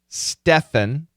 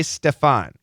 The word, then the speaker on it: Stefan: If I see a name like this, if I'm reading Stephan, personally, I tend to say Stefan, but it very well could be Stephen.